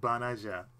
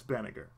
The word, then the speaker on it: Banagher: Or how they pronounce his name, Banaja. But yeah, it's Banagher. In another game, I believe on Dynasty Warriors Gundam 3, they call him Banaje. It's like, no, just call him Banagher.